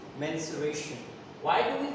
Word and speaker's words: mensuration: also known as menstruation the pronunciation is menstruation why do we call